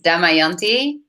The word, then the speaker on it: Damayanti: pronounce it exactly well the pronunciation is damayanti and then my surname is however it's very rare